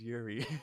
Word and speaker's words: Yuri: Yuri.